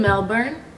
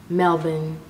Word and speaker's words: Melbourne: So she was in Melbourne.